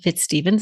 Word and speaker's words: FitzStephens: we are joined today by our guest fitzstevens and I didn't ask did I pronounce that correctly you did yeah okay wonderful